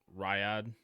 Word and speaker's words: Riyadh: I can't pronounce that Saudi Arabian city. Riyadh, Riyadh, Or Riyadh.